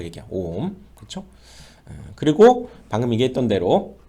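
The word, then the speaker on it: 옴: 오음이라고 읽겠다 그 얘기야. 오음 그렇죠?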